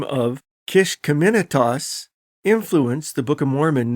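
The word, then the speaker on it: Kiskiminetas: Using various online pronunciations, this is how it really sounds. Kishkemenitas. Kishkemenitas.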